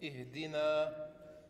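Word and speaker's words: اهدنا: Aber ich gebe es euch schon mal vor, das Ding hier wird I ausgesprochen. Den Rest müsst ihr können. Bitte schön. Also? Punkt ist oben. Also nochmal. Genau, das ist Ihdina.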